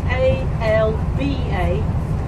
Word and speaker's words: Alba: Caledonia was the Roman word, Alba is the Gaelic word, but we spell it A-L-B-A and pronounce it Alba. Kind of go down and up and the B's a B. And when I was a